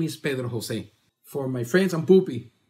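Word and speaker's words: Pedro José: Pedro Jose is made out of four syllables.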